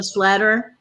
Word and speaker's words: Slatter: may 19th angela slatter slay actually i think it's slater like you know it's like i can never remember right but look it spelled like slatter but i think she told someone told me it's later and rebecca lone horse june